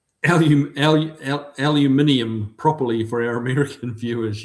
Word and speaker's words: aluminium: Kiwi, pronounce aluminium properly for our American viewers. Yes. Yes. Back in Kiwi land and Australia land, we say aluminium, not aluminum.